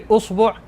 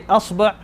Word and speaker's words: إصبع: You can pronounce it in any way and it will be correct. You could say isba', you could say usbu', you could say asba'. The way, any way it's pronounced for this word in particular is all correct.